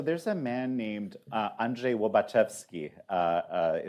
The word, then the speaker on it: Andrzej Łobaczewski: Uh, well, so there's a man named, uh, Andrzej Łobaczewski, uh, uh, is how you pronounce it in Polish.